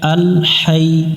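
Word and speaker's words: الحي: সাথে হাই আল হাই এখানে অনেকজনে আমরা এটাকে লম্বা হা বলে আরেকটা আছে গোল হা বা ছোট হা আমরা অনেকজন এখানে লম্বা হাই এর জায়গা গোল হা উচ্চারণ করি হা এই অক্ষরটা হলকের মধ্য থেকে একটু শসু বাতাস বের করে পড়তে হয় এখানে আমরা শক্ত করি অনেকজরে আল হাই হাই পড়া যাবে না হাই আল হাই ইউ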